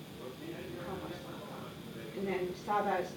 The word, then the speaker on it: Comment ça va: And this one is more formal where they you speak to strangers if you don't know you would say comma ça va.